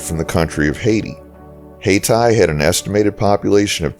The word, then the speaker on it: Hayti: We're now in the city of Hayti, and yes, after exhaustive research on the pronunciation of this city, it is pronounced Hayti.